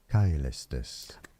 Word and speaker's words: Caelestis: Caelestis. Caelestis. Caelestis. Caelestis. I knew it. I fucking knew it. It's a K.